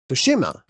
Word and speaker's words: Tsushima: nate fox the creative director of ghost of fushima yay pronounce that you nailed it ben that did